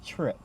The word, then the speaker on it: Tryp: So, how do you say Tryp? Just like I said, just Tryp.